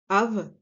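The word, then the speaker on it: אב: Le mot père qui a une racine de deux lettres, le Aleph et le Bet, qui se prononce Av, les deux ensemble, commence par un Aleph.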